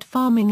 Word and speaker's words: pharming: The word pharming is pronounced as farming.